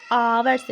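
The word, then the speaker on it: hour: Friend देखो यहाँ पे आवर लिखा हुआ है ना, आवर में एच जो है क्या है, कॉन्सोनेंट है, लेकिन हम इसका प्रोनाउंस कैसे कर रहे हैं, आवर से।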